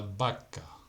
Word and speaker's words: vaca: La consonante V se pronuncia B, como la letra B, como en la vaca.